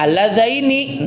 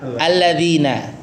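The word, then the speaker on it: الَّذَيْنِ: Ternyata ini bacanya alladzaini. Nah, iya kan? Iya. Jadi hati-hati dengan kebiasaan ya. Tidak hati-hati dengan kebiasaan ya. Ini alladzaini bukan alladzina ya.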